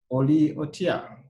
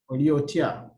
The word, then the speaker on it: Oli otya: In Luganda, you say Oli Otia. Oli Otia.